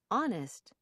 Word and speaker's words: honest: There are a few words in American English where the H is not pronounced. Herbs, honor, hour, air, honest, honestly.